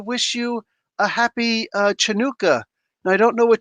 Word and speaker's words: Hanukkah: hanukkah here's that like there's h hanukkah and then there's ch which is supposed to like really show the proper phonetic pronunciation chanukah you know what i'm saying most people like chanukah no no hanukkah open it up it's a semitic sound um so he uh